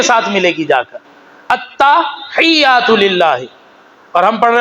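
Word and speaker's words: التحيات: لفظ ہے التحیات للہ. کیا ہے؟ التحیات للہ. تا کے اوپر زبر ہے، ہا یہ کے ساتھ ملے گی جا کر، التحیات للہ.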